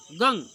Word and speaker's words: गं: बहुत लोग गंग पढ़ते हैं इसको, बहुत लोग गम पढ़ते हैं। भक्तों, वैसे तो गम ही होना चाहिए, लेकिन उसका सही उच्चारण ओम गंग गणपतये नमः, गम गणपतये नमः नहीं। गंग बिंदी जो होती है गा के ऊपर, उसको हम गंग पढ़ेंगे, गम नहीं पढ़ा जाता है।